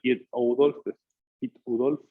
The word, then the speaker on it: Piet Oudolf: holandés que hace, digamos, el Piet Oudolf, sería la forma de pronunciarlo, es Piet Oudolf, y él hace diseños naturalistas generalmente combinando especies.